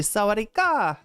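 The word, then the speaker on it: สวัสดีค่ะ: Like when I say Sawadi ka, I always want to say it like Sawadi ka. It's actually Sawadi ka. And so like people like will say Sawadi ka. Like it's like they're correcting. They're like, no, you gotta, that last syllable's gotta go up in intonation.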